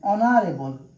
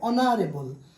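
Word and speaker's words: honorable: অ্যান অনারেবল, এইচ থাকা সত্ত্বেও কিন্তু উচ্চারণ ভাওয়েলের মতো হচ্ছে, অনারেবল, যার ফলে এখানে এন বসেছে। এখানে এন এম এ, এখানে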